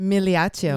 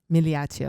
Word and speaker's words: Migliaccio: But Migliaccio, if you Yeah. say it in Italian. oh The G no, is silent. really? Silent, yeah. Migliaccio. Migliaccio.